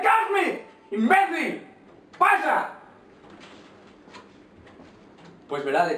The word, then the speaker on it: Crapsmith: ¡Pero se pronuncia Craftsmith!